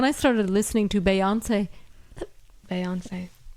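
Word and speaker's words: Beyoncé: When I started listening to Beyonce, Beyonce. that's how I say it. That's how you say it. It's French.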